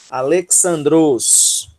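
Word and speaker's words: Ἀλέξανδρος: Alexandros, né? Alexandros. A sílaba tônica é o le, tá?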